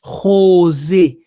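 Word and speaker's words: חוזה: Yes, Ngunza, the Yiddish is Khozeh, Khozeh, Khozeh. Yes, the KH is pronounced as a G. So the pronunciation is Khozeh, Khozeh, which is Ngunza in the Kikongo.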